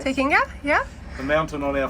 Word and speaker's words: Te Kinga: So, here we Now on board the Lagun 380 Tekkinga. That's how you pronounce it. Yes. Takinga. Tekkinga.